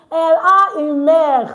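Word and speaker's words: elle: One is shouting L. That's good. Correct. L E. She has a mother. You see now I still did not pronounce the E at the end.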